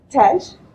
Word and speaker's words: Tej: Tej. Rhymes with hedge, but with a T.